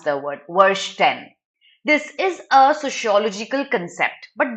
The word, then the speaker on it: Verstehen: Okay, now this is a German word. Verstehen is how you pronounce the word. Verstehen. This is a sociological concept.